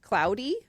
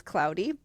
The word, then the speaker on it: Claude: if I'm remembering correctly, his name is pronounced Cloudy, but it's spelled like Claude. Okay. Um but, uh they pronounced it as Cloudy.